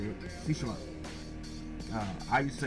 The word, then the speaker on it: Tsushima: I think that's how you say it, Tsushima. I used to say Tsushima, but apparently the T is silent.